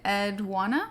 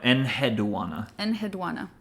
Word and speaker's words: Enheduanna: So, but let's see, you're saying it Edwana? No, Enheduanna. Enheduanna.